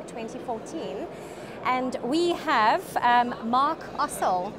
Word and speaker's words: Ossel: And we have Mark Ossel. Is that the right way to pronounce the surname? That's perfect. Yes.